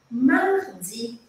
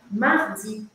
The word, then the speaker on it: mardi: segunda-feira Mas vamos fingir mardi aquele r arranhadinho na garganta tem vários vídeos aqui no meu canal te explicando como fazer esse som tá mardi esse é o mais